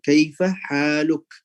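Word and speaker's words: كيف حالك: Untuk harakat yang di terakhir itu atau yang di ujung kita boleh pakai sukun. Kaifa haluk?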